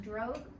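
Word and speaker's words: drogue: the drug parachute so this word d-r-o-g-u-e it's pronounced drug this is a small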